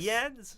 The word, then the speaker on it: Eads: I got AIDS once. Like? I got literally a like teacher. Professor? I had a teacher once pronounce it, substitute, go, is AIDS here?